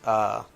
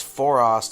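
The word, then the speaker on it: Foerost: I hate pronouncing that planet's name because I always want to say Forenos, but that's in Tolkien verse. It's Forost, I believe.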